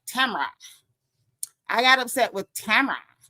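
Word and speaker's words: Tamra: Notice I said it right. Tamara.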